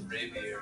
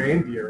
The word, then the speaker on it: Ranvier: Oh, wait, what's rapier? Who's number 6? It's spelled wrong. It's supposed to be Ranvier, right? Raise reindeer. Ranvier. There's net in there. Spelling. That's the nodes of Ranvier, not rapier.